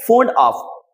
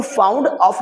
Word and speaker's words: fond of: अब देखिए ये जो वर्ड है फोंड ऑफ इसको दोस्तों आपको फाउंड ऑफ नहीं पढ़ना है।